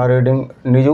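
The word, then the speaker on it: read: পড়া কোন কিছু পড়া ঠিক আছে বই পড়া রিডিং নিউজপেপার পড়া ঠিক আছে রিড রিড এ তিনটি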